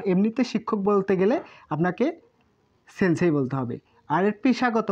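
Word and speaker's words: せんせい: এলের মতো সেন, সেই, সেনসেই। তাহলে এটির উচ্চারণ কি হবে?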